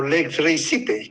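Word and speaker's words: lex rei sitae: Y nuestra ley de norma judicial más claramente, ¿verdad?, pone hasta el término latín, ¿verdad?, lex rei citae, o lex rei cite, como se pronuncia, ¿verdad?, situación de los bienes.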